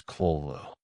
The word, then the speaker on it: Cthulhu: The best approximation one can make is collo.